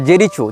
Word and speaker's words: Jericho: लेकिन इजराइल हो या फ़लस्तीन हो, इसने जेरिको या जेरिचो, जो भी इसका उच्चारण भाषा में किया जाता है, JERICHO, जेरिचो या जेरिको, जहाँ तक जेरिको होना चाहिए उच्चारण, ये फ़लस्तीन का प्रांत